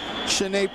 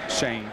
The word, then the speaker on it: Shanae: And yet he's been very active in the football game as Shanae Price. And yes, we are pronouncing that correctly. Shanae Price, not Shane. Shane.